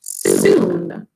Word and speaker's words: syn: Our new root for today is sin, but in Greek it's pronounced soon.